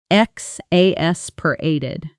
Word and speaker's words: exasperated: Notice the stress falls on the third syllable. X as pered.